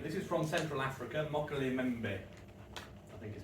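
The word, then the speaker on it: Mokele-mbembe: we go okay this is from central Africa mockery member is how you pronounce that meaning the one who stops the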